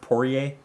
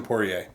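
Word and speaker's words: Poirier: Maynard Dustin I believe isn't it pronounced porier porier yeah yeah porier or is this clay Gua I'm going to say Dustin poier you would be correct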